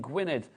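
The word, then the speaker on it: Gwynedd: West Midlands Jay in gwined is how you say that I'm Welsh I should know that gwi gwined GID I am Welsh yes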